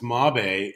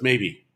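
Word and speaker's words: Mabe: the the the brand she's talking about it's mob a in spanish and it's m-a-b-e when you pronounce it out it's maybe is it gonna work yeah maybe actually mobby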